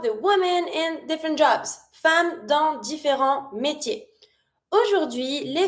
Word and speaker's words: femme: vote One more time pronunciation repeat after me in fam with the a sound fam. a num late TS mute legality travail education le vote Okay, now let's talk about the woman in different jobs fam don't different mate.